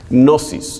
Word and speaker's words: gnosis: griego que significa conocimiento gnosis y es y esto se escribe silenciosa gn o s&s como dosis pero se dice no es nada más la g es silenciosa gnosis gnosticismo que viene del